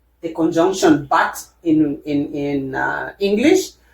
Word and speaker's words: but: looks like the word but the conjunction but in in in uh English but in French this one is B. You don't pronounce the T at the end. The T is silent but it is B which means a goal.